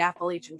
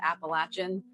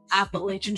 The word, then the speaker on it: Appalachian: mountains, we're near the Appalachian Trail. I said it right that time. I'm used to saying it Appalachian, but I realize that's kind of nuts, so Appalachian Trail.